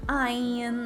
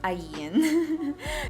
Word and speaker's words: Ayn: Laging Ayn, laging Ayn. Guys, it's Ayn.